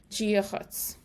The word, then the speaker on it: Dia: the sound softer and the D India is pronounced like a j or a g sound especially an ulcer Gia jiah okay now when you're